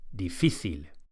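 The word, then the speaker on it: difícil: difficult is very similar defil with the accent or the stress on the middle syllable defil defil and easy easy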